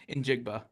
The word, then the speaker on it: Njigba: in Jackson Smith and Enigba. Did I say it right? Njigba. Thank you. Yeah, Njigba.